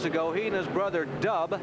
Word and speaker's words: Dub: And about 10-12 years ago, he and his brother Dub, yeah, not Doug, it's spelled D-U-B, Van and Dub May, changed their base of operations to the Eastern Pennsylvania area.